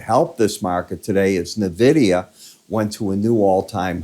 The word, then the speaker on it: Nvidia: the near term is NVIDIA Nvidia is the right way to say it by the way not Nvidia the way I did it Nvidia uh down out